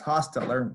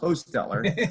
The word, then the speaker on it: Hostetler: Most people, as Coach Paul said, is Hostetler. It's actually pronounced Hostetler.